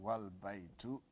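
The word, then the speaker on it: والبيت: When you add the wow here, wal baitu.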